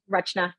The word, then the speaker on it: Rachna: name is rachna and I know the CH can be kind of you know depends how you want to pronounce it tricky rachna rhymes with much like that um so